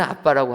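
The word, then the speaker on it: αββα: 베타알파 영어로 말하면 ABBA입니다 그런데 이제 미국 사람들은 ABBA를 아 말하고 발음 해 가지고 아 바로 되지만 우리는 비읍 두 개 있는 거를 빠라고 바람 하지 않습니까 우리는 아빠라고 하는데 이게 헬라어 1분 하고 똑같다라는 것입니다 우리는 압박하면 느끼는게 있습니다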